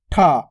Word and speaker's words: ठ: उसके बाद है अपने ठ अब ठ का उच्चारण देखो थोड़ा जोर लग रहा है य प ठ टा